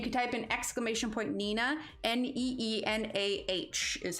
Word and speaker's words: Neenah: everything and you can type in exclamation point nina n-e-e-n-a-h is how you spell that right yeah there you go the neenah